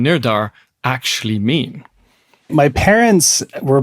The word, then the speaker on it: Nirdhar: So the actual pronunciation is Nirdhar, which means determination.